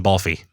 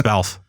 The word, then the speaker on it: Balfe: Completely butchered his name in the podcast. I called him Balfe, and it's Balfe.